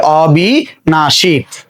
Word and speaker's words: অবিনাশী: তাহলে অবিনাশী শব্দের উচ্চারণ কি হবে, অয়ের উচ্চারণটা অই থাকবে, অ, তারপরে বয়ের স্বীকার বি, অবি, দন্তান্ন আকার না। আমরা জানি যে তালব্যস্য উচ্চারণ কি হয়, তালব্যস্য উচ্চারণ তালব্যস্য হয়ে যায় এবং আছে দীর্ঘইকার হয়ে যাবে কি হ্রস্বইকার। উচ্চারণ হচ্ছে অবিনাশী।